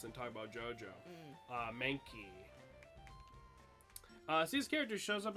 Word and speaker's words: Mankey: a good nickname for Mankey guys man you're putting too much emphasis on the you're putting the emphasis on the wrong soap is Mankey not Mankey it's Mankey it's Mankey Mankey Mankey